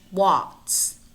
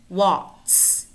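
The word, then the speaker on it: Waltz: Pizza pretzel pretzel and Watts Watts here the L is not pronounced watts we also have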